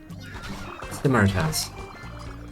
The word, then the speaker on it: Simaras: Uh, it's like simaras. That's how you say it.